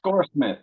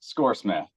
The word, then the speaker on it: Skoorsmith: and I hope I pronounce this right, Skoorsmith, is that right? Skoorsmith, yes, Skoorsmith.